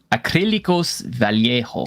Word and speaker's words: Acrílicos Vallejo: Acrílicos Vallejo. That's how it's pronounced, but baby, please stop chewing on my valuable one-off cards here.